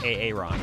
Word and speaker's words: Auron: Well, Auron, you just want to say Aaron, right?